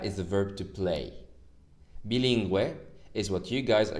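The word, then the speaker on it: bilingüe: two dots on it so we pronounced the u it's bilingue the second one is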